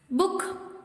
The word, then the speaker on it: book: Book, foot, wood, hook, rook, good, cook, look, nook, wool, stood, shook, broom, crook, brook.